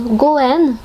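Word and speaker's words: 五円: pièces de 5 yens parce que ça se prononce Goen. Go, c'est 5, yen, en. Et Goen, en fait, c'est aussi une façon de prononcer le mot destiné, le destin.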